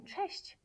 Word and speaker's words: cześć: Okay, the first one is CZ, which is pronounced as ch, ch, like in cześć, cześć, ch.